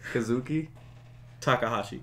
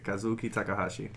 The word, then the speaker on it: Kazuki Takahashi: this katuki takahasi right is that how you pronounce his name kazuki kazuki takahashi takahashi okay kazuki takahashi